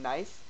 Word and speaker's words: knife: We don't pronounce the K in knife.